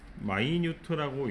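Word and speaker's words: minute: 자, 미니트라고 읽을 때도 있고 마이뉴트라고 읽을 때도 있는데 형용사 뜻일 때는 마이뉴트라고 읽고 무슨 뜻이라고? 섬세한이라는 뜻이라고 합니다.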